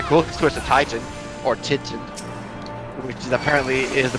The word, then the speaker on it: Titan: about something yeah i i think it's supposed to be like teton like not quite like grand teton national park or whatever i don't